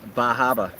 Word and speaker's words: Bar Harbor: It's Bar Harbor, but I need to pronounce it well. Bahaba.